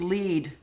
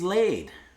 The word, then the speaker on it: Lead: It's actually pronounced like the end of the name Adelaide, but ladies do lead. So yay. Oh, there you go. I thought it was lead. EI, doesn't EI Adelaide? Okay. I always thought EI would be like either or neither, which I guess could be either or neither. So there's a lot of discrepancy there. But ladies laid is how you pronounce it.